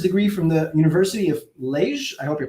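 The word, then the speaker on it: Liège: from the university of lage i hope you pronounce that properly in belgium did i say that right yes okay you need to pronounce it in french all right and at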